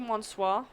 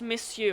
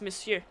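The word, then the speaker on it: monsieur: I want to keep saying Monswis or miss but it's missu and I know that it's missu but the the spelling French spelling pisses me off so much because you don't pronounce any letter the way that it should be missu that's missu but many things were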